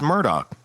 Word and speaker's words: Murdaugh: It's Murdoch. They were saying like Murdoch. Yeah. And and Alec does too. Alec hits the K in there.